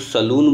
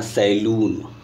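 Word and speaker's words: saloon: जैसे आप लोग सलून बोलते हैं ना, सैलून, ठीक है ना, उसको बोलते हैं सलून.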